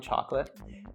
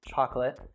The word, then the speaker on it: chocolate: Like at a candy store, you'll find chocolate. And the pronunciation there is quite different as well because we say chocolate and you say chocolate. So it's like a bit of a shorter I sound there, right?